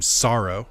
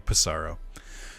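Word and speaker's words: Psaro: However, we're gonna keep the name Sorrow. Get it? Sorrow, like the feeling, like sadness. The P is silent, which I only recently found out. I kept saying Pissarro.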